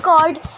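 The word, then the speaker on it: chord: Friends जब diameter की line से इधर जाता है ए सी तो इसे कहेंगे कॉर्ड, और इसमें एच साइलेंट होता है, ये हो गया कॉर्ड। ओके फ्रेंड्स, तो अब ओ सी को क्या कहेंगे?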